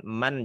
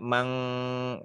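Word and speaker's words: من: Seperti misalkan man jangan dibaca mang, jangan dibaca ikhfa ya, dibacanya izhar halqi man khaffat.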